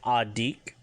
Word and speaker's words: adiik: If you want to talk about children who are age 3 to 13, it's Adik, which is ADIIK, Adik.